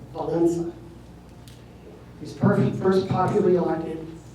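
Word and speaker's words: Wałęsa: Uh the E with a squiggle underneath it is pronounced as E N. So when you add all that up, what looks like well Welssa is actually pronounced Valencia.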